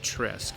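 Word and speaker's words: треск: The name Tresca may be derived from the Russian word tse, pronounced tresk, meaning crack, gap, or split.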